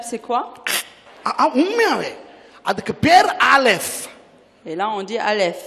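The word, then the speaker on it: אָלֶף: உண்மையாவே அதுக்கு பேர் ஆலெஃப். Et là on dit ஆலெஃப். ஆலெஃப்னா நீங்க நினைக்க கூடாது ஆ அப்படின்னு. ஏன்னா இப்ப இங்கிலீஷ்ல ஏ சரியா, தமிழ்ல ஆ நா, சிங்களத்துல அயன்ன, அப்ப ஆ, அப்ப ஆலெஃப் வந்து ஆ அப்படின்னு நினைச்சிட கூடாது.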